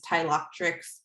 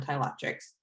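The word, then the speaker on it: Ptilothrix: to pronounce this first it's a a silent p like in pterodactyl this is tyloctrix bombiformis um my my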